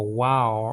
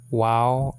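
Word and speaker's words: וָו: w sounding letter but some people pronounce it like a V sounding letter VAV you know so um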